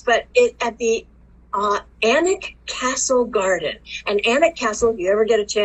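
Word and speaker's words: Alnwick: potter fans make the pilgrimage to anik castle and it's spelled onwick and they have a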